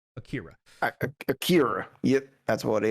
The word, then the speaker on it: Akira: eight i'm sorry uh akira akira akira that's how we say it here oh it's yeah it's it's like you say an r sound but you don't put your tongue in the same place that you would for